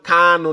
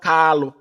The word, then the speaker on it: Kanu: Mazi Nnamdi Kanu, not Kalu. Mazi Nnamdi Kanu, not Kalu. Our leader's name is not Kalu, it's Kamanu Ozuzu.